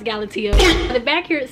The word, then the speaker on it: Galatea: that up first but I think it's pronounced galatea which period okay so I just looked it up this is actually pronounced galatio the back here it